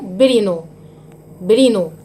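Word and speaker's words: Pribnow: اسمه برينو. البي سايلنت ما بتتنطقش.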